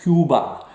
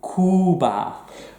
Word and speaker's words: Cuba: Lots of English people pronounce this Cuba when they're speaking Spanish. No, U, Cuba.